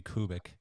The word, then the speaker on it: Kubik: that's uh that's the right uh the right pronunciation so forever more it will be kubic and I think I said it right in